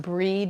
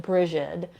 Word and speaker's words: Brigid: breed yes it's pronounced breed usually sometimes people pronounce it Bridget or they call her St Bridget um but many people will pronounce it breed like B re D yeah um Jenny said